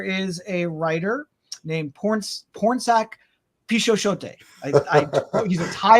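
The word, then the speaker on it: Pornsak: DC and uh is it porn sack it's it's porn saac yeah is his first name like a porn uh Sak but okay the yeah the other word is is or the other half is spelled as you would expect gotcha uh so yeah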